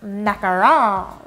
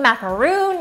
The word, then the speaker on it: macaron: talking about all things macaron no I did not say that wrong nor did I spell it incorrectly down below if you're thinking macaroon you're thinking about a totally different dessert macaroon is that coconut